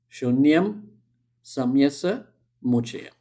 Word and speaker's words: Shunyam Saamyasamuccaye: How do you pronounce it? Shunyam Saamyasamuccaye.